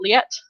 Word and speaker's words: Liet: Oh yeah, we hear more about how do you pronounce this name? This Liet. Is it Liet?